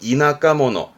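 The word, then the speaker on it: 田舎者: 시골 사람을 의미하는 발음은 이나카모노, 뭐 시골뜨기 이러잖아요.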